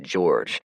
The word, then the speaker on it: Jorge: His name's Jorge, but he prefers it to be pronounced George.